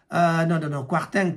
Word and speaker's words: Kwarteng: ya finance Kwasi Kwarteng Kwarteng plutôt comme ça Kwarteng là pour prononcer comme on m'a monté Kwarteng a présenté qui